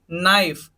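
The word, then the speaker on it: knife: ये क्या बनेगा नो मेंस जानना सेकंड देखिए नाइफ नाइफ क्या बना नाइफ बना ये साइलेंट हो गया इससे पहले का तो सिर्फ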